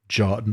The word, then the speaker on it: Jotun: Jotun. That. Oh. Jotun. Jotun. Oh, okay. Jotun the Eternal. Okay. Mm-hmm. That's cool. I assume that's how you say it, because that's how you pronounce, because Jotun like Jotunheim.